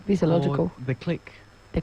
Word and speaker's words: Clique: The Click. The Click.